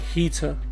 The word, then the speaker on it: Hiita: Just realised that's very clever spelling, like a clever name, because you know it's written like Hiita, but you say it like heater.